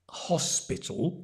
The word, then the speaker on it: hospital: the first one but notice the pronunciation right hos spital but the accent is on the h h h spit and the to is a dark l t can you see the tongue tall and the tongue touches the teeth hospital and try and put